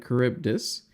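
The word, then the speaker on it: Charybdis: mission called Sila and cibus that's how you pronounce this Sila and caribdis and in this Mission you have the choice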